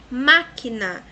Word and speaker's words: máquina: Máquina, máquina, de trás para frente é a terceira sílaba, a antepenúltima, então proparoxítona.